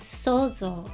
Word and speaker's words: 想像: Japanese words for imagination and creation are pronounced in the same way as sozo, with different written characters are these And each